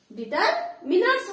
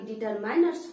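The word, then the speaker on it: determiners: बच्चे इसका जो प्रोनाउंसिएशन होता है वो डिटरमिनर्स होता है, ना कि डिटरमाइनर्स होता है।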